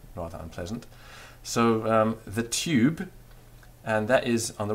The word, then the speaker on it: tube: moving your tongue so leave your tongue sort of dead there in the mid of your mouth and go e now that part is the tube u there you have